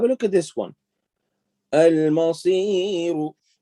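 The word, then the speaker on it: المصير: Al-Masiru. If you stop, you don't say Al-Masiru, you say Al-Masir. Al-Masir. You cancel this and you change it with the sukoon.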